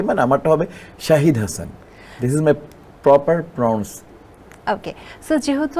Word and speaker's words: শাহিদ: চিনি এখানে একটা মানে যেহেতু এসএইচ আমার বেসিক্যালি প্রোনাউন্স এভাবে হবে মোহাম্মদ শাহিদ হাসান এসএইচ এ শাহ এইচ আইডি শাহিদ কিন্তু যেহেতু আমরা সবাই স মনে করি তো সে জায়গায় অলরাইট কিন্তু ইনফ্যাক্ট ইনফ্যাক্ট আমার প্রনাউন্স হবে শাহিদ হাসান মোহাম্মদ যেমন জাহিদ